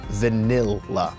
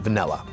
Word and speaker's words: vanilla: extremely exact about this the word is and should be pronounced vanill not vanilla now I the thing is